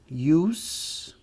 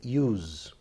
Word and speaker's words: use: Aqui eu tenho para substantivo use, esse é som de S. E se for verbo, o S se transforma em Z, use.